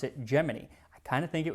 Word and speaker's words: Gemini: on the upcoming gy missions and yes gini gemin I always thought it was Gemini like you know the zodiac sign but according to NASA in 1965 they said nope we pronounce it geminy I kind of think it was because some